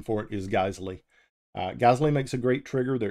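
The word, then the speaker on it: Geissele: that use the GLE stuff um some people pronounce it gazelle gazy it's the proper pronunciation for it is gley gazley makes a great trigger they're expensive but they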